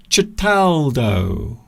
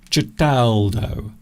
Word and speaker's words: Certaldo: Cataldo. That is how you pronounce it. So I mispronounced it earlier, for which I apologise. Cataldo. Cataldo is the place that we visited in Italy.